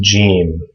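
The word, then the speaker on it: جيم: a similar family the first one is gene and this makes a j sound just like in english uh like the word george or judge uh is this letter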